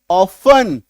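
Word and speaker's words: often: लेकिन आपको अभी क्या सिखाया कि अगर किसी शब्द के लास्ट में टी इ एन आपको ऐसे दिखे तो टी को काट दो। टी को काट दो। सोचो कि टी वहां पे है ही नहीं। अब पढ़ो। ओ एफ इ एन ऑफन। आई बात समझ में? ये होगा सही उच्चारण।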